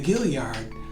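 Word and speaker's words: Guillard: find some places like the gillyard spelled g-u-i-l-l-a-r-d or Buford which is pronounced Beaufort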